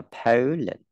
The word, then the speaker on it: Poland: Poland, không đọc là Po nhá, đọc là Poland.